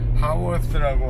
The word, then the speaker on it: Hayworth: 여긴 하워스라고 하는데 헤이워드 GPS에서는 항상 헤이워스라고 이 길을 얘기해요. 하워스 이렇게 발음들 하더라고요.